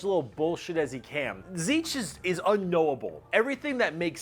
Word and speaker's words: Tzeentch: Tzeentch, and Tzeentch is the god of change. I would not have guessed that is how you pronounce that name. I would have been like, Tzeentch.